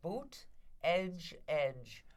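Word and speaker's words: Buttigieg: her are you pronouncing I say Budaj I try to say it as quickly as possible so I don't screw it up well I was told it's like boot edge edge Buddha judge that's how I remember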